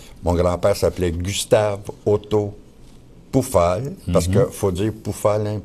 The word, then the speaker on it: Pufahl: TR ok sur pufal le son u en allemand se prononce ou alors ça fait poufal mais ici si tu